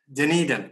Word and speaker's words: Dunedin: is first degree in uniden I think house pronounced my James Needham Dunedin okay Dunedin in New Zealand what he was